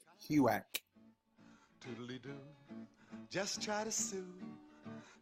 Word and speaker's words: HUAC: Pronounced Huac.